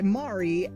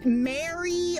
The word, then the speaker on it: Mari: just for the reference, it's meant to pronounce Mari, not Mary or Marie. I know I know there are a lot of people like the name Mari, especially with how it's spelled. It could go one way or the other, but it's pronounced Mari.